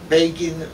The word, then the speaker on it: Begin: 1977, July, the first meeting between Begin and Jimmy Carter, president. Everybody was not surprised, but shocked by the Begin election to the Blue Mission. You remember Time magazine? Begin rhymes with Fagin.